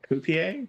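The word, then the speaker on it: Coipel: It's uh Olivier Coup Cop Olivier Coupé. Am I saying that right? Copier.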